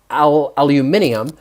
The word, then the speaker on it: aluminium: talked about um aluminum in the u.s and aluminium in the rest of the world pretty much